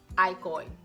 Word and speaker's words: alcohol: Remember, the H is silent. Él no bebe alcohol.